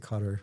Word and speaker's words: Qatar: Anyone in country, we all pronounce it cutter.